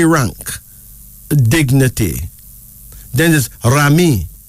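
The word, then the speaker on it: Raimi: Egypt meaning high rank dignity then this is Rami Rami r-a-i-m-i Rami a Nigerian variation of the Muslim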